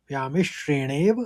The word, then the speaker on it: व्यामिश्रेणेव: मौ में आघात लगा है तो व्यामिश्रेणेव वाक्येन वाक्येन।